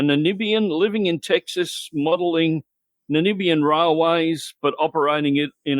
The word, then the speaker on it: Namibia: he's originally from the country of zanibia yeah i don't think you're saying it right you want to take a crack at that person well namibia yeah maybe is the guy